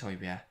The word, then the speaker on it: Højbjerg: Yeah, it's Højbjerg. For some reason I thought there's G's in his name. They need to be pronounced.